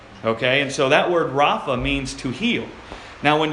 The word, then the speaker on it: Rapha: to heal it's the transliteration and we would pronounce it Rafa that's where we get Jehovah Rapha from the Lord my healer okay and so that word Rafa means to heal now when you break that